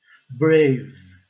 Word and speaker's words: brave: Brave, brave, o E silencioso e o A recebendo o som de A.